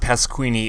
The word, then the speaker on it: Pasquini: And her name is pronounced Pasquini if you've already forgotten.